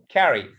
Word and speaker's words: carry: So such as carry. There are two syllables, but the stress is the first. So carry.